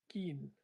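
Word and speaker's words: skein: So uh when you talk about geese when they're in the air, the collective noun is skien. I think that's how you pronounce it.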